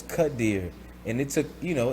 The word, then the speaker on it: Quadir: e star is the it's the e sound with the i and then the r is the so it's cut deer and it took you